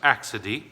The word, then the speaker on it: accidie: or something like this but it's not it's pronounced accide and it's actually translated in the book um